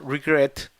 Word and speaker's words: regret: Por ejemplo, regret, que mire que tiene el acento en la segunda sílaba, mientras que el listen tiene el acento en la primera.